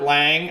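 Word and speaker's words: Liang: Oscar Lang, I think that's how you pronounce his last name, L-I-A-N-G.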